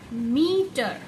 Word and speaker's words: meter: मीटर मीटर देखा जाए अगर हम उसको प्रोनाउंस करते हैं मीटर तो हम मी प स्ट्रेस दे रहे यानी कि उसको ज्यादा खींच रहे हैं मी ट टकल